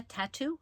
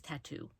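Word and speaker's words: Tatu: By Jenna Tattoo. I think it's Tattoo. T-A-T-U.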